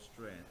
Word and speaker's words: Strachan: Roxy has collaborated and performed with artists such as Donald Alexander Strachan, did I pronounce his name right? Strachan. Oh, Strand, yes.